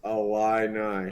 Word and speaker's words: Illini: So it's pronounced Illini. Oh, God. Okay. Well, I'm sorry. It's literally, you just take all the O's out.